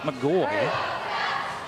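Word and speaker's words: McGaughy: her first free throw is good by brenn mcgoy it's spelled MC c g a u g y but pronounced mcgoy one more free throw for the senior for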